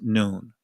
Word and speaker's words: nun: So the noon that's that's the Hebraic I mean not Hebraic that's the uh the Israeli pronunciation of the letter nan that that's how it's pronounced in the ancient and the Israeli is pronounced noon.